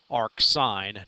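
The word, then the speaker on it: arcsin: way they're abbreviations read we pronounce them according to the real words that they represent okay so there are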